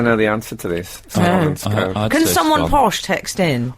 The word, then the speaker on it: Scone: could probably call it scoon. I don't know the answer to this. Scone. Can someone posh text in? All I would say is the stone of scone. must surely rhyme with stone.